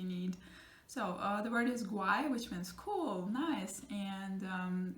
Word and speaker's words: guay: So the word is guay, which means cool, nice, and it's a G-U. In that case, you have gu sound, G-U. Again, it's a strong G, and you pronounce the letter U.